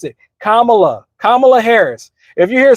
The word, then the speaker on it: Kamala: Kamala, not Camela like Candace Owens was saying back in the day.